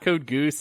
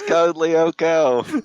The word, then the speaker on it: Code Lyoko: jump in it's not code goose it's not code lyoko is code lyoko the creators of both